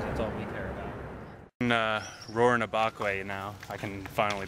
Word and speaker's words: Rurrenabaque: see some stars that's all we care about roaring abok way now i can finally pronounce it although we also learned that people